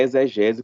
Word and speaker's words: exegese: Eu sou ruim de pronunciar esse nome, mas é exegese como se o X fosse um Z.